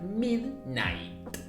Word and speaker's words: midnight: noche la medianoche sería Midnight midn Que suene la t del fin hasta acá el video